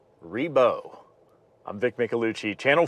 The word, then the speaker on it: Ribault: So there's your history lesson, and it sounds like the final answer is Ree-beau.